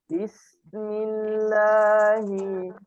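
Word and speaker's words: بسم الله: itu ketika sebelumnya kasrah adalah cara membacanya denganbirnya sedikit Bismillahi Bismillahi jadi tidak dihentakan bukan bukan bismillah bismersama-sama semuanya bis bismillah Bismillahi Bismillah Bismillah am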